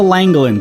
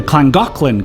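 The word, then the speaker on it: Llangollen: didn't touch the wall so this is The langin Canal at least that's how I read it but I learned the Welsh pronounced the double L's as CLA so it's actually pronounced the clangin canal all right this part seems simple enough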